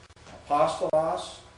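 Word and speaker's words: ἀπόστολος: Apostolos, third from the last syllable.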